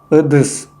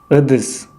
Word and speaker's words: ыдыс: Буква произносится более тверже, чем в русское и более кратко. Ыдыс – посуда. Ыдыс – посуда.